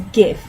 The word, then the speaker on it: gif: Don't give a shit if it's supposed to be gif. It's a gif. There's a hard G at the front. I refute all evidence that says otherwise.